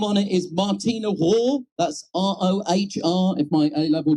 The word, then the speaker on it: Rohr: The name on it is Martina Rohr. That's R-O-H-R. If my A-level German is still functioning, I think that pronunciation is correct.